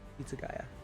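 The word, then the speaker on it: Hitsugaya: Okay, Toshihiro, Itsugaya, that's how you say it.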